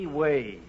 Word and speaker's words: oui: That's pronounced wee.